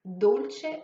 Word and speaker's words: Dolce: Ensuite, le E de Dolce se prononce à l'italienne et pas à l'anglaise avec un I en finale.